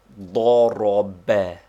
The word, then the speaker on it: ضرب: They form the Arabic word he struck, which is pronounced ضرب, with the accent on the last syllable.